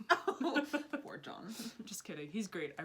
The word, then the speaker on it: Jean: Did you just call him Gene? Oh my gosh, yes, I did. His name is not Gene. It's spelled Gene. It's John.